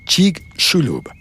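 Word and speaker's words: Chicxulub: Chic shulub. La X, según las instrucciones que vi, se pronuncia como sh, así como argentino, chig shulub.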